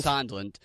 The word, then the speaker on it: Sondland: Sondland.